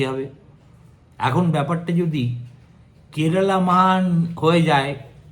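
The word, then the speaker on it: Keralam: কোন তর্কের অবকাশ নেই যে রাজ্যটাকে আমরা এতদিন কেরালা বলে জানতাম এবার থেকে তাকে কেরালাম বলে উচ্চারণ করতে হবে এতে যে কোন মালায়ালী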